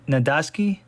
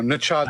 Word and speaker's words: Nachodsky: Nadaski. Oh, you lose. No, Nachodsky.